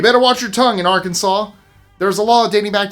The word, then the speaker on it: Arkansas: to mispronounce the name Arkansas. By statute, it's meant to be said Arkansas with the final S silent, reflecting the name's French origins.